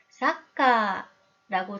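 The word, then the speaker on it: サッカー: 그래서 카도 2박으로 길게 발음해야겠죠? 사카.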